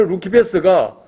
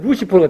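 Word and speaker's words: Lucifer: 자, 그런데 여기서 보면 라틴어 루키페스가 영어 스펠링으로 보면 똑같아요. L-U-C-I-F-E-R. 그걸 라틴어로 읽으면 루키페스예요. 그런데 영어로 읽으면 루시퍼가 되는 거예요.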